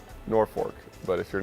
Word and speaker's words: Norfolk: do you say it Norfolk okay Norfolk Nebraska it's spelled N o RF o lk but it's pronounced Norfolk okay now explain that